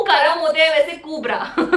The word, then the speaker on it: Kubbra: ओह नो, it's actually it's just कुब्रा, इट्स कुब्रा like KUBBI कुब्रा, को संधि विच्छेद ब्रा and that's how यू गेट the name. या गंदी वाली ब्रा, इट्स सिंपल। को करो मुझे वैसे कुब्रा।